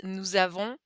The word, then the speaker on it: nous avons: So it starts with a vowel, so we pronounce that z, nous avons.